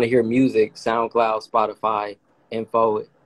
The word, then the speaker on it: En4: hear music soundcloud spotify info en4 like information but those are the